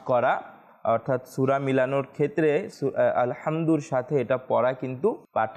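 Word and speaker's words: الحمد: পূর্বেও আরজ করেছিলাম যে আমাদেরকে মাখরাজের ক্ষেত্রে আলহামদু আলহামদু এই যে উচ্চারণের পার্থক্য রয়েছে হা এবং হা এর মধ্যে এগুলো কিন্তু আমাদেরকে করতে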